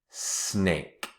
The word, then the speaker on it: snake: They all end in the letter E, and the letter E is silent. Shh. It doesn't make a sound. It's silent. Snake, bake, cake, lake. The E at the end is silent.